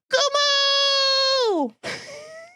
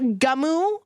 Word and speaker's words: Goomo: wow meet your new and improved TTS companion goomo this is Brian's new form okay and I want to make it very clear it's not gumu okay it's goooo g o o m o